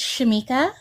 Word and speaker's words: Shamika: Is it Shamika or Shamika? It's Shamika. Shamika.